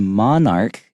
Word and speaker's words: monarch: Instead, the monarch, and make sure that CH is a hard C sound, okay?